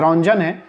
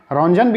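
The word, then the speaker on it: Röntgen: रोंटजन ने, ठीक है, ये रोंजन है, रोंजन भी हो सकता है और रोंटजन भी इनका नाम है, ठीक है, प्रोनाउंसिएशन करने में डिफरेंट है बस।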